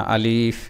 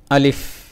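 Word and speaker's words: ألف: এটাকে অনেক টান দিয়ে বলা যাবে না, আলিফ এভাবে নয়, আলিফ আলিফ আলিফ।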